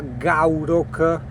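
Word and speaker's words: Gourock: Io ho preso il traghetto, il Wester Ferris che è a gaurock, si scrive g o U r o c k, ok?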